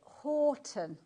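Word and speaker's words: Houghton: We're up here in the northeast in Newcastle. We pronounce it Horton.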